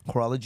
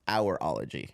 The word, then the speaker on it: horology: Horology is the study of watches and chronometers. I think it's pronounced hourology. No. No, Horology.